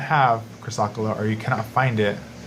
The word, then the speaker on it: chrysocolla: the name you know like it's hard to pronounce sometimes I'm with my braces chrysocolla chrysocolla there we go okay and so this